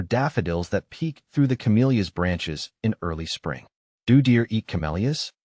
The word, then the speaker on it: camellia: The pronunciation of camellia can be a bit tricky. The correct way is camellia, with emphasis on the second syllable.